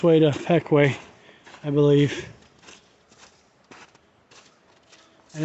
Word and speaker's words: Pequea: train line took down on its way to peckway i believe and it's pronounced peque not piquia spelli says one thing but looks